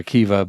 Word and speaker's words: Akiva: I mean, obviously it's Akiva. The syllables are Akiva, but I forget when it became Mamima.